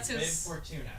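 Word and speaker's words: Bib Fortuna: weird cone head thing bi Fortuna thank you B Fortuna say it loudly so they can hear you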